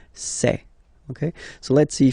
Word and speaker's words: ces: then for the plural form it will be say Okay so let's see that again s or